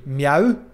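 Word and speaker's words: mjau: M-J-A-U. Meow. Meow. Pronounced the same, but spelled very differently.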